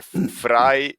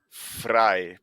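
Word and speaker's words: Vrije: ah a Exatamente é Fry né ó se escreve vay com J no final né mas se lê fra por causa que em holandês o v se pronuncia como f e fica FR univers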